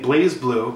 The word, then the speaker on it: BlazBlue: It's a fighting game, I'm assuming, the BlazBlue games, fighting games. Or some people say BlazBlue, but I pronounce it BlazBlue because there's no E in there.